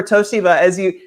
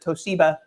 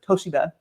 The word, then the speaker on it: Toshiba: I moved to Silicon Valley to work for Toshiba, as you correctly pronounced it. No one else, of course, Americans always pronounce it Toshiba, but the Japanese and the company themselves pronounce it Toshiba.